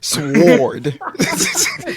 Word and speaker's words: sword: Why you put all that extra W in there? Sword.